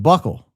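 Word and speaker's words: buccal: It's pronounced buckle.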